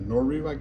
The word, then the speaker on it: Noru: The Nor is how you say it.